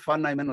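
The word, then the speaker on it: von Neumann: அந்த அந்த கமிட்டியில வந்து ஃபான் நாய்மன் ஒருத்தர் இருந்தார். அது எழுதுறது விஓஎன்னு சொல்லுவோம், ஆனால் ப்ரொனவுன்ஸ் பண்ணிட்டு ஃபான்னு சொல்றாங்க. அது மாதிரி NEUMANN அது பேரை வந்து நாய்மேன் அப்படின்னு சொல்றாங்க.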